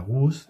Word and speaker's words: Laguz: Te cuento que la GUS es con Z, lo que pasa es que yo no la pronuncio.